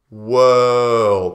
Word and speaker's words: world: World. This is an er sound in the vowels. World. And then you have the L, L, world, and the D, world, world.